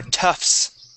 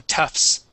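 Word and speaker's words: tufts: okay and these are toughs toughs we're not we not going to pronounce that t we're going to go straight to that s sound so toughs TS what's that t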